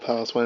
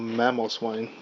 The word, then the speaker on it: Mamoswine: By the way, this one is not called Paloswine, it's called Mamoswine, by the way. So I probably pronounced that wrong.